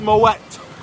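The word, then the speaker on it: Moët: It's Moet. The T is pronounced.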